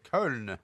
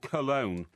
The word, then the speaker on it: Köln: Köln, as they call it there. It's spelled Koln, isn't it? With an umlaut over the O. Well, in this country, it's called Cologne.